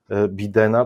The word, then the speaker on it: Biden: Ja już słyszę od wielu osób, które mówią Biden. Dlaczego Biden, a nie Biden? Bo jeżeli Biden, to i Trump.